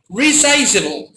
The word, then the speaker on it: resizable: registrar alimentos punto set resizable. Así es como se pronuncia. Resizable.